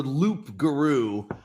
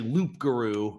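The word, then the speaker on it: loup-garou: Well, so the lugaru is the real it's it's the loop guru, but when cajun people pronounce it, they pronounce it rugaroo, but it's actually it's it's actually loop guru and it's it's French.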